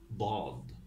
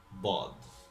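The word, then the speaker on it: ض: Or what I could say, it just could be like a strong D.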